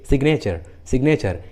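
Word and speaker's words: signature: लेकिन इसका एक एक्सेप्शन है, जैसे सिग्नेचर, इस इंग्लिश वर्ड में जी एन के पहले आया है लेकिन जी का उच्चारण हुआ है, सिग्नेचर।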